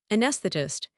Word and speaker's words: anesthetist: I want you to try saying this word anesthetist. Oh no, that word looks like a tongue twister from hell. Anesthetist. Anesthetist.